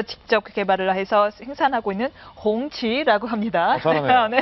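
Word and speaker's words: 红旗: 숨겨진 이야기 세 번째입니다 차이나 14억 내륙의 벤틀리 풍치 이거 발음 어떻게 합니까 지자님 풍치 봉치 봉치 아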